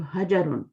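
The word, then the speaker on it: حجر: रक आपने पता है इस पर सुकून लगाया था ना हजर पड़ा था यहां प सुकून नहीं है यहां पर जबर है तो हजर हजर प्रॉपर चेक करो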